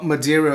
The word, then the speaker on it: Madeira: uh holidays here in Madeira well Madeira of course is the way it's pronounced in English in Portuguese it's my